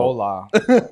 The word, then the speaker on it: hola: whole lot meat you you don't pronounce the h in that you don't hola there you go listen